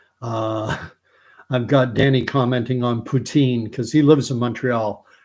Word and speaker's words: poutine: I've got Danny commenting on poutine because he lives in Montreal, and Quebec is where poutine came from. In French, fries, gravy, cheese curd dish, and Russian president's last name are pronounced the same way.